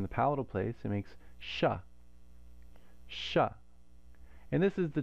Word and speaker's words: Shiva: But you can hear that cerebral quality if you say it correctly, and then the na following the sha is also cerebral.